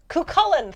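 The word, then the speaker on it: Cú Chulainn: Yes, that's how you spell it, but that's not Cucullin. Thank you, Craddock. But it's got the spelling and the pronunciation are not connected, and I do not speak Irish.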